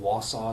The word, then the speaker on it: Wausau: Is it Wausau?